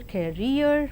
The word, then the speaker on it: career: And now the words stress, the words ending with suffix ee, eer and air are stressed on the the syllable itself, that is payee, addressee, employee, absentee. And engineer, volunteer, career, mountaineer, millionaire and questionnaire. And let us see accent in the compound words.